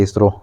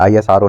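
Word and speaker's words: ISRO: क्या वर्ड बना दिया यानी कि जिसको हम प्रोनाउंस भी कर रहे हैं इसरो बोल रहे हैं आईएस आरओ नहीं बोल रहे इसको ये होता है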